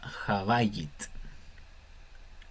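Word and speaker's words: הבית: Habayit es como con una B fuerte, como de barco. Cuando la B tiene el dagesh, es como barco, bote. Cuando no tiene la dagesh es como una B corta, como vaca, como un poco más. En el chileno no lo distinguimos mucho, pero hay una diferencia.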